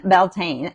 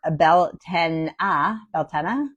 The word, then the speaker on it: Beltane: The name Beltane, pronounced Beltane or Beltana, comes from Old Irish Beltane, like it's Italian.